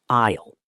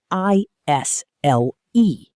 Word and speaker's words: aisle: Listen to the word isle. It is spelled a i s l e, but the s is silent.